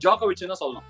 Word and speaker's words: Djokovic: Deejovic, and what not You said Dijukovic, right? You pronounced the 'D' You shouldn't have... It is Djokovic (Marubadiyuma....)